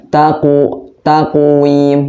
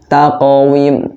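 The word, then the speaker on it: تَقْوِيمٍ: Jadi nggak boleh baca taqwim, nggak boleh. Jadi harus taqawim. Kita ulangi lagi. Taqawim. Jadi kalau yang ada baca seperti ini, taqwim, maka itu salah. Jadi yang benar bacanya taqawim.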